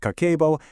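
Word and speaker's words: 家計簿: So, Kakeibo, it's pronounced Kakeibo, literally translates to household financial ledger.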